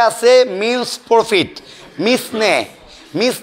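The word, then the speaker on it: mesne: দুই 12 তে আছে মিনস প্রফিট মিসনে মিস নি প্রফিট কিন্তু উচ্চারণ হবে মিনস বানানো হবে মিস নি এম ই এস এন E miss নি মিস নি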